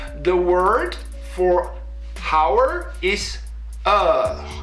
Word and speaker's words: heure: Now, the word for hour is heure. It's spelled H-E-U-R-E and it's pronounced heure, heure, heure, heure, right?